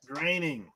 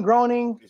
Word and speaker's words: Groening: Tata Fuji Matt Groening name Matt Groening yeah graining graining groaning straight-up graining no you know grinding